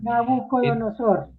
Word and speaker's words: Nabucodonosor: de Babilonia, que me cuesta un poco siempre pronunciarlo, Nabocodunosor. Y entonces se produjo el cautiverio, Nabucodonosor, eso el Nabucodunosor, por ahí está. Nabucodonosor.